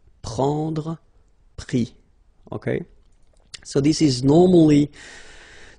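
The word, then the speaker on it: pris: And then prendre, so e-n-d-r-e, will give es. Prix, okay. Same thing here, you don't pronounce the final s, okay.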